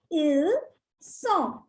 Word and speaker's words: ils sont: The next one, ils sont. Ils sont. Again, it's not ils. The last alphabet S is silent here. So it becomes ils sont.